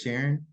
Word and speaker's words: Sharon: of things I noticed her name was Sharon rhymes with Karen like she didn't display